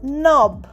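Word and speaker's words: knob: নাকল মানে তোমরা জানো আঙ্গুলের গা হি হটস Nakol in the fight saw next নব কে এন ওবি নব কিন্তু নয় নব অর্থাৎ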